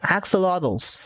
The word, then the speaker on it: axolotl: they announced these are really cute axolotls yes axolotls that's how you pronounce them so these are really ah statistic